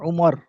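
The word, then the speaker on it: عمر: এতটুকু আচ্ছা বিশেষ দেখেন আমরুন শব্দের শেষে ওয়াও থাকলে উচ্চারণ হবে আমরুন আর ওয়াও না থাকলে উচ্চারণ হবে ওমর যেটা আপনার অনেকে জানি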